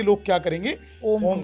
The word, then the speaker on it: ओम: ओम मतलब father energy ओ को छोटा करके मां को बड़ा करेगा जैसे वो करेगा ओम तो ये उससे क्या